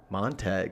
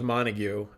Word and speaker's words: Montague: Montague, right?